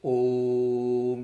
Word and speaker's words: Om: even a long bubble it should be a longer vowel it's called pluta you know it means